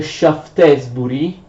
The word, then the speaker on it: Shaftesbury: Attenzione, si scrive Shaftesbury, ma si legge Shaftesbury.